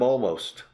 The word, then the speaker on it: almost: Yes, yes, I'm almost. El otro día, I think last week, I'm almost. Casi estoy listo. I'm almost ready. I, mall, como centro de compras, shopping mall, I'm almost ready.